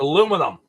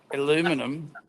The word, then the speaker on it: aluminum: it right it's a aluminum aluminum maybe yours is different that's how I say it anyway too many syllables aluminum I don't mind